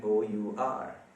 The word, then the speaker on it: honour: ठीक है, सोचें आप, HONOUR। इसका H जो है ना वो प्रोनाउंस नहीं किया जाता। जी हाँ, ये किसी भी सूरत होना नहीं है, ये होना बिल्कुल नहीं है।